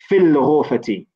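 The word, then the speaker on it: في الغرفة: Okay, this alif is known as hamzatul wasl. Okay, you do not pronounce this alif here, or this hamza. You do not pronounce it, except for at the beginning of a sentence. Okay, so for example, here we would say fil ghurfati. It's not pronounced.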